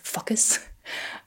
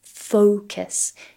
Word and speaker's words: focus: starts to sound like fuckus all right so here try to really think about having a round O Focus try to elongate that first syllable o so it will sound